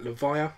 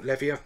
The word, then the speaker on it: Levia: ability in this set levia or levia depending upon where in the world you're from and how you want to pronounce it um so okay couple